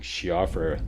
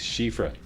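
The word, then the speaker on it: Siofra: Somebody recently told me that I've been mispronouncing Shiafra, and apparently in Irish, it's pronounced Shifra.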